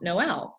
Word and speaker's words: Noel: It's probably because I am somewhere energetically, I knew it's Noel, which to me is the song Noel, and yet Noel, I don't know where that's coming from, except that's just anyhow. Spelled the same as Joel, and a lot of times people see that. You're right. That's probably where it came from, is Joel.